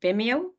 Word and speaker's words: Vimeo: and also the link to your channel on Vimeo is that how you say it yeah on